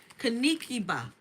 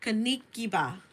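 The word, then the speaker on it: Kinkeliba: Kind of reminds me of burdock leaves, but this is Kinikiba. Kanikiba. That's how you say it. Kanikiba.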